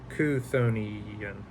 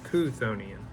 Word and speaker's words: Cthonian: will be the cthonian let me make sure pronouncing that one correctly konian so konian and I'm sure I'll